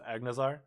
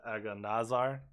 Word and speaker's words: Agnazar: so you put the emphasis, like the hard pronunciation, on the AG of Agnazar, Oh yeah. as opposed to the Aganazar.